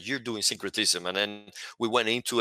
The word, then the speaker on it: syncretism: saying it correctly is that syncretism or synchronous syncretism right yeah so is that kind of your